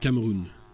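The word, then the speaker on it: Cameroun: French I say it Cameroon that's because in fringe the accent is on place on the last syllable and in English the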